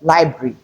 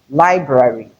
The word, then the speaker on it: library: In library, you have to keep the 2 R's. We have 2 R's in it. So you have to keep it in the pronunciation. It is not library, but library.